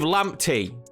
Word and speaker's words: Lamptey: bad we started with lamptey that's how I'm being told to pronounce his name now if you have